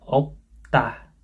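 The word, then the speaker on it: 없다: Kemudian piusyot sama lil piup ini p, p bacanya kayak opta, opta, opta artinya tidak ada, bacanya opta. Jadi ini op, ini bacanya p kayak opta itu.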